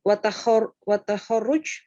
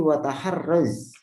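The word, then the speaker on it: وتحرّز: Kalau watahorruj? Ini wataharraz.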